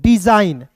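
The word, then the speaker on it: design: तो इसे पढ़ेंगे दोस्तों डिजाइन। देखिए यहां पे डिजाइन यानी कि इसमें जी जो है दोस्तों साइलेंट हो रहा है।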